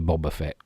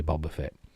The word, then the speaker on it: Boba Fett: i say i say boba fett because that's just how i've always pronounced it and it's how harrison ford pronounced it in return of the jedi so i say boba fett none of this bob